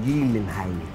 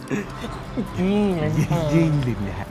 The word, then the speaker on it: Gyllenhaal: Hey, hitting that pole, that's me if I see Jake Gyllenhaal in person. Oh. Damn. Damn. Damn. It's actually pronounced Gyllenhaal. Sure. Gyllenhaal.